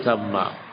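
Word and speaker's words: ثَمَّ: Bukan summa tapi samma.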